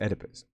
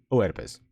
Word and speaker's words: Oedipus: his name was pronounced so I know it's pronounced Oedipus but it's a bad as the bad habit I never stuck that I pronounced it Oh Oedipus I know how it's pronounced but it is